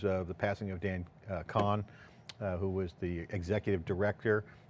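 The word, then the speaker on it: Kohn: He's like, John, it's Kahn, not Cone.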